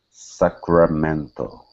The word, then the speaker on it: Sacramento: Here, instead of Sacramento, okay, give me a good R. Sacramento. Sacramento.